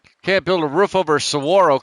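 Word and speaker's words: saguaro: Can't build a roof over sorro cactus. That's pronounced Sarro. Sawarro. Yeah, Sarro cacti for you and me.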